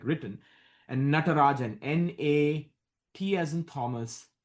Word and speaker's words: Natarajan: It's like salt and pepper shaker, but it's is how it's phonetically like written, and Natarajan, Nat as in Thomas, R as in Robert, A Jack, Jan.